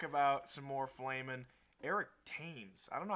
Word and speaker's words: Thames: Eric Thames. I don't know how to say this guy's. Is it Thames? I think Thames, I've Thames, heard Thames and Thames. The River Thames? if we're going by that pronunciation.